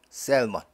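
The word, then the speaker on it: Salmon: 명사일 때는인 무음이 세먼지 지금 고유 명사일 때는 l 발음합니다 셀먼 5절에는 마즈가 연속해서 나오죠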